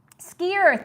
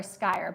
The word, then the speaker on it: skyr: So it is skier. I wasn't sure if it was skier or skyer, because being a phonics teacher, I know that Y can either be an I or a long E, a long I or long E.